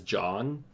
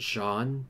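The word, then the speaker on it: Jaune: mispronounced Jean once as John and people are like it's pronounced Sean not John and it's like guys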